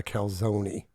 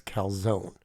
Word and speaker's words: calzone: going to get mad because they call it a calone they leave the E they accent the E I'm pretty sure even in Italian the word is calzone so if you're GNA say it say it like it's supposed to be said it's czone I don't think Italians say kzone let me know in